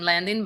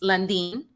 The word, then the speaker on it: Landin: And I understand sometimes they call you Landin or your last name Landin, but it's Landin. I know.